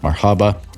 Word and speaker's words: MRHB: Pod the CTO of mrhb pronounced Marhaba which means welcome in Arabic that is m r h b D5 he's also the